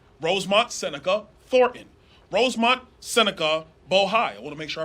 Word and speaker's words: Bohai: Alpha, RSTP2 Bravo, Rosemont Seneca Thornton, Rosemont Seneca Bohai. I want to make sure I pronounce it right. Bohai, B-O-H-A-I.